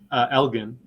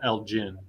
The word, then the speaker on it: Elgin: back in Minnesota, where I went to high school and college, we have similar town, same name, but it's called Elgin. Like Oh, the okay. G is pronounced differently, and so they say